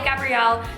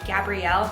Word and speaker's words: Gabrielle: I go by Gabrielle. That is my first and middle name, and it is pronounced Gabrielle, not Gabriel, not Gabriel.